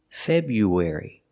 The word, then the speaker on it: February: sound in the middle it's like a w sound w w w w you wary febru February February let's talk about dates